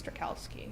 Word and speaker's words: Strakalski: so- I'm sure so even it's- I'm not pronouncing it the actual Polish way, but my family in New York says Strakalski.